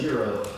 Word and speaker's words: gyro: I need to correct that. Okay, it's a euro.